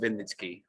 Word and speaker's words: Wynnyckyj: Very nice of you, but the surname is pronounced Wynnyckyj, which you clearly got wrong, but that's okay.